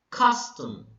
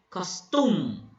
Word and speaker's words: custom: Example, custom. Custom. Okay? You do not say costume. You do not say that. You say custom. The first syllable is being emphasized or is being stressed.